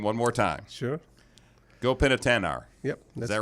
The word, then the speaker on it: Gopinathannair: one more time sure go pin at an hour yep is that right go in yeah very good I was also didn't have the emphasis on the last syllable got it now all